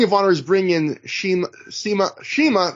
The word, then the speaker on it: Shima: They keep pronouncing it Sema. I hear everyone else these days pronounce it Shima. So now, after listening to 3 hours of them say Sema, I'm going back and forth on it's confusing me.